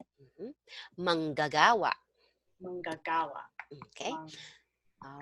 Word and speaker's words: manggagawa: Um, manggagawa. Mhm. Manggagawa. Manggagawa. Okay, Mang. all right, manggagawa. So you pronounce the second G.